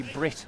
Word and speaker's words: Brett: a way you admire it will be Brit won't it rather than Bret BR Brit Rand uh